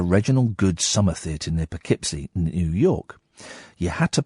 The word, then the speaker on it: Poughkeepsie: Catherine is typing it phonetically on my screen. Just say it. Go on. What is it? It's Poughkeepsie.